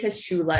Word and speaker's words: Kaschula: to have you here so y'all k j kashula am i pronouncing your last name correctly by the way